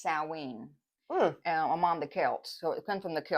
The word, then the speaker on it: Samhain: the Festival of s it spelled like Sam hay but it's Sween I'm on the Kelts